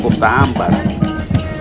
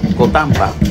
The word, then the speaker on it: Costa Ámbar: Valga la redundancia, pues se trata de esta localidad que se llama Costa Ámbar. Y normalmente se conoce con una palabra más rápida cuando se pronuncia por algún lugareño, que le llaman ellos Cotamba, pero que en realidad, si rompemos bien y